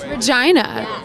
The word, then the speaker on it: Regina: wall and I play Regina in the show China not Regina no it's pronounced Regina she's very adamant about that so